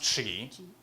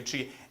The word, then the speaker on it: Qi: It can be spelled Qi, but it's still pronounced Qi. Some people say Qi, but it's actually Qi.